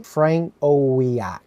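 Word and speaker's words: Frankowiak: It's Polish. It's Franco.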